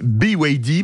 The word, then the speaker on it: BYD: un chif vous permettez BYD parce qu'on le prononce à l'anglaise qui a vendu 5000